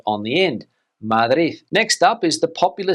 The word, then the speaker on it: Madrid: Now, firstly, we'll look at Spain's capital city, Madrid, but here in Spain, the locals would say Madrid, Madrid, Madrid, Madrid. And some people will even put a th sound on the end, Madrid.